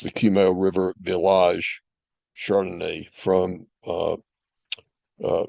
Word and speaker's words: Kumeu River: Chardonnet from New Zealand from a winery called Cumo River. It's Cumo is spelled K U M E U Cumo. It's pronounced Cumo River and it's the Cumo River Vage Chardonnay from uh uh New Zealand.